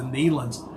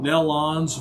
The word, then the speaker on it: Nelons: It's the Nelans. I've heard them called Nelons or Nellans and everything else, but they pronounce it Nelan.